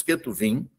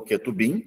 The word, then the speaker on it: Ketuvim: Boa parte dos Ketuvim, ou Ketubim, né, se a gente assim quiser pronunciar, compõe o que nós chamamos de literatura sapiencial.